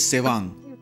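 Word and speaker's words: Tsewang: The man's name is Sewang, spelt with a T.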